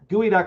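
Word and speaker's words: geoduck: by the way Geo gooey duck is spelled Geo duck yes it is spelled geod duck for some peculiar reason duck pronounced gooey I don't I don't know why so other than your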